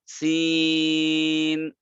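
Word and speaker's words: س: এরকম ভাবে সিন তিনটা হরফ দিয়ে লেখা, সিন ইয়া নুন, এটাকে চার আলিফ টানবেন, সিন।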